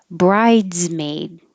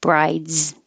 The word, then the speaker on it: bridesmaid: Bridesmaid. You stop the airflow briefly for the D and then you go to the Z. Brides, brides. You can't skip the D or it'll sound like brides, which is different.